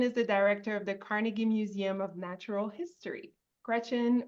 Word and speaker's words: Carnegie: here it is the carnegi Museum of Natural History apparently at one point Andrew wanted to return to his Scottish roots and pronunciation so I I I